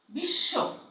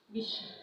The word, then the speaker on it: বিশ্ব: যেমন দেখো, বিশ্ব, বিশ্ব। খেয়াল করো, এই যে তালিব স ব্যঞ্জন বর্ণ, তার সঙ্গে যে ব আছে সেই বটা কিন্তু উচ্চারিত হচ্ছে না, তার বদলে কি হচ্ছে, সেই ব্যঞ্জনের দ্বিত্ব মানে দুইবার উচ্চারণ হচ্ছে।